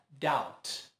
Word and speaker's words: doubt: O certo é não pronunciar o B e fica doubt.